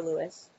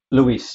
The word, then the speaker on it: Luis: Do you pronounce it Luis or Lewis? Luis, you're correct.